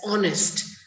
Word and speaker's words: honest: When I say H-O, O, so the sound is of O. So that's honest.